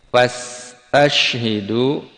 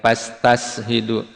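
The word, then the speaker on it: فاستشهدوا: Fastashhidu di sini ada dua sin ya yang berbeda pembacanya. Yang pertama tidak ada titiknya, fas ya sin biasa itu. Fas jangan ketukar. Fastashhidu alaihin dibedakan ya. Jangan pastashhidu atau tashidu jangan ketukar. Fas sin biasa.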